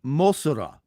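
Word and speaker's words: モスラ: So Mothra became Mosura, Mosura, Mosura. But that's only because that's the way they pronounced it.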